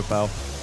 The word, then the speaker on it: Nwpo: Yeah, they're calling him Nobu now. Apparently that is closer to like the actual pronunciation. I'm still calling him Nwpo.